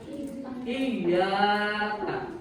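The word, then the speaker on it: إِيَّاكَ: Itu kalau tasdidnya dihilangkan, Bapak akan coba tulis ya. Nah, supaya kalian tidak salah membaca, ketika kalian membaca memakai tasdid, iyyaka hanya kepada ini kami ini adalah Allah. Jadi hanya kepada Allah iyyaka na'budu kita beribadah. Ya. Wa iyyaka nasta'in dan hanya kepada Allah kita memohon pertolongan. Tapi ketika kalian membaca tasdidnya dihilangkan, itu maknanya akan berbeda.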